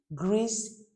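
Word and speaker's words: grise: Gree masculine grease feminine.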